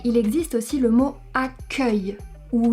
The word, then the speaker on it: accueil: Mais il existe aussi le mot accueil où ici on a un E ouvert. Accueil. Parce que c'est la dernière syllabe du mot. Accueil, ouvert. Accueillir, fermé.